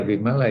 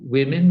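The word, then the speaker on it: Wimala: the same letters uh for women we say vimallah for men for we say we pronounce it as women so don't be surprised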